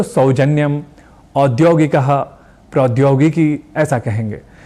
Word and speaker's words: औद्योगिक: हम ना अपनाएं अर्थात यहां भी औ को ओ या ओ ना कह करर औ ऐसे ही कहना है क्योंकि वेदों से लेकर